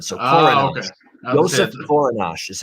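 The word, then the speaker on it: Kořenář: Okay, I didn't know, because it seems like it's Korenar, but it's one of those European names, and the NAR is ash sound. So Korenash.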